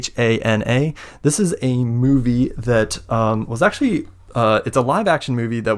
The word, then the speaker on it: Hana: I actually don't know if it's pronounced Hana. It's Hana.